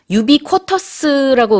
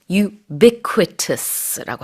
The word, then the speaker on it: ubiquitous: ubiquitous라고 우리가 이제 우리식으로는 발음을 하지만 영어식으로는요. ubiquitous라고 하셔야 됩니다. quo 아니고 qui예요. ubiquitous material.